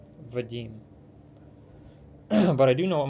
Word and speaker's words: Vadim: d i m Vadim a lot of people pronounce it vadm or vam or viim viim it's like okay guys enjoy yourselves it's pronounced viim it's a Russian name I I'll have